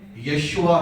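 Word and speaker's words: یشوع: اس زمانے کے تو دو لوگ تھے، یشوا اور کالب، جسے ہم یشو بھی کہتے ہیں۔ درست تلفظ تو یشو ہے جب ہم اردو میں پڑھیں، لیکن عبرانی میں یشوا ہی ہے، تو ہم چونکہ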